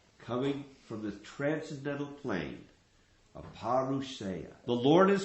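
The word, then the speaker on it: apauruṣeya: Is that the right pronunciation? Aparusaya.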